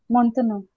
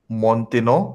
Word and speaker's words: maintenant: Okay, I'm not going to search for it, but can you guys pronounce this? Maintenant. Maintenant. Khalid? Maintenant. Maintenant. Montenegro.